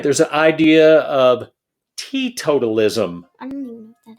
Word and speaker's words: teetotalism: The T in teetotalism, even though it's spelled T-E-E, that's so you pronounce the letter T separately, has to do with temperance.